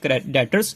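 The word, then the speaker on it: debtors: इनसे हमने पैसे लेने होते हैं, ठीक है, इनको हम क्या कहेंगे, डेटर्स। ये बी इसमें ना साइलेंट होता है।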